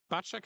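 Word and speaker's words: Bacik: Bacek, am I pronouncing it correct?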